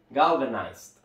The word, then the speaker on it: galvanized: se escribe así de parecer bastante desafiante al pronunciar pero vean que con la ceniza se hace muy sencillo es galvanized galvanized galven ahora no solo se queden con